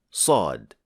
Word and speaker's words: ص: In other words, if you pronounce Sin as a heavy letter, you will get Sad.